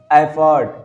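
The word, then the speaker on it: effort: एफर्ट, इफर्ट नहीं होता है, एफर्ट, क्या एफर्ट।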